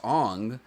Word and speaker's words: Aang: Oh, so Aang, the whitewash Aang, pronounced Ong, comes in.